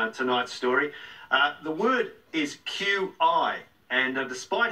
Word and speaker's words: Qi: as well but with Qi it's a lot of people confuse it with Tai Chi now even though it's pronounced the same way it's a different spelling and has a different